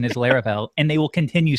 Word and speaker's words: Laravel: you say it Taylor larel okay come on lar I think the emphasis is on the Vel like a lot of people say like larel but I think Taylor says larel Lar very subtle I've